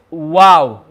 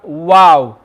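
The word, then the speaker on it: واو: letter we have is wow we have wow now the makharaj of wow is when the lips partially meet to form a small circle the lips partially meet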